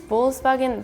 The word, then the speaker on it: Volkswagen: like f okay okay because like in English it's like V and W but in Germany it's like kind of different we say F and V first time I hear